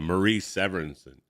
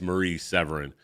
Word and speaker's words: Marie Severin: artists at the time Maurice Severinsen um Marie Severin I'm pronouncing her last name wrong believe it it's Marie Severin um but uh I